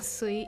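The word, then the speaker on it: 水: The onyomi for mizu or sui is sui. So when you see the kanji mizu or sui combined in a word with other kanji, you read it as sui.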